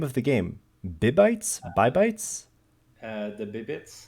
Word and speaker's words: Bibites: Bibites? Bibites? the Bibites. Bibbits.